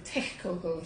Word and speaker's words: Texcoco: And the Texcoco were, or probably the Texcoco to pronounce it properly, were a rival tribe.